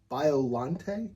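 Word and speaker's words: Biollante: So, this is pronounced Godzilla versus Biolante. Biolante.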